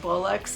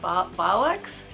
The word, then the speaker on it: bollocks: the right way um I think I was saying Bullocks and it's B bollocks um uh but I